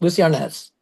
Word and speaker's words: Lucie: So, I kind of split the difference and I think my father did too. I say my name is Luces.